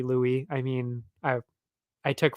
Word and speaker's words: Louis: of Charles Jewel day Luis I I pretty sure I'm pretty sure in French it's actually Louis I mean I I